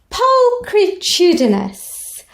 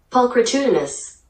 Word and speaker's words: pulchritudinous: that my students are ahead of the rest pulchritudinous and again let's do that fascinating thing where we check the pronunciation pulchritudinous there we are on my other computer pulchritudinous pulchritude meaning beauty which is of course an